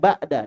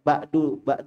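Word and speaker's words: بعد: Sama dengan ba'da, enggak boleh ba'du duhri, ya, keliru. Bacanya ba'da duhri, ba'da duhur.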